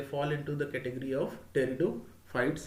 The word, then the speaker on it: pteridophytes: into the category of territo fights here p is silent here so the study